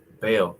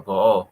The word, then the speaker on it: Baal: That prophesied falsely, that prophesied to Baal or Baal, however you want to pronounce it.